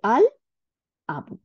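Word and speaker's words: الأبُ: হ্যাঁ, সেই জন্য আমাদের আল উচ্চারণ করতে হবে, আল আবু। তাহলে লাম উচ্চারণ করলাম। তাহলে লাম উচ্চারণ করাতে আমাদের লামটা গিয়ে হামজার সাথে যুক্ত হয়ে সাদ্দা দেয় নাই, এইটাই হচ্ছে শিখাচ্ছে যে কামরি ওয়ার্ড গুলোতে সাদ্দা লাগে না।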